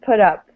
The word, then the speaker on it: put up: things to notice uh when we say put in english if it's followed by another word this t this t sound and this is especially for americans we tend to pronounce this as a d so just put up put up okay good